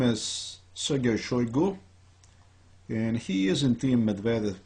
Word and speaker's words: Shoigu: about again Sergei shoigu my pronunciation is chagoi but at this plain and simple wrong it's bad pronunciation I'm short with time